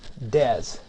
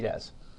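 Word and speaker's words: DES: can be used is called triple Dez that's the three Dez that's the way it's pronounced so if you ever see that it's triple Dez not three death and the data encryption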